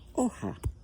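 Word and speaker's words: hoja: for today is oh OHA oh and the fun thing about this word is that it's spelled with an H at the beginning but we don't pronounce it H is at the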